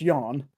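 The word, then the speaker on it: Ioan: the one with the the Yan Gruff, which it's pronounced Yan.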